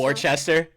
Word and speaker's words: Worcester: If you're not from around here, it's Haverhill, but it's spelled Haverhill, dude. Like it looks. There's so Or many like towns around Worcester, here. like Gloucester. Worcester, Gloucester.